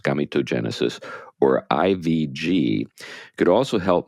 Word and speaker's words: gametogenesis: Krysilov, who is gay, says the technology known as in vitro gametogenesis, I think that's how it's pronounced, or gametogenesis, that's probably how it's pronounced, gametogenesis, or IVG, could also help male couples have biological children without anyone else's genes.